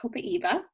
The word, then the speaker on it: copaiba: one in but here's copaiba which actually is pronounced copaiba um and this is a great one to